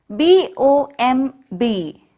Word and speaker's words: bomb: B-O-M-B. How can we read this? Bomb. Repeat it, bomb. Here, B is silent.